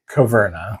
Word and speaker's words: Caverna: But anyways, this is pronounced Caverna.